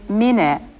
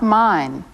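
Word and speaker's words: ミネ: Be sure to pronounce his name Mine, not mine.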